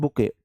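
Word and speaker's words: bouquet: given as a present बुके इसे बुके बोलते हैं टी इस में साइलेंट होता है सॉरी मैं टी पढ़ गया सॉरी जी सॉरी क्योंकि अंग्रेजी है ही ऐसी मैंने ध्यान नहीं दिया बुके इसे बोलते हैं बुके टीथ में साइलेंट है टी को पढ़ा नहीं जाएगा आप बुके देते हो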